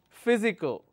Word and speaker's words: physical: the stress quality okay the next one is I physical so the the third from the uh from the right anti penultimate will have the stress physical all right if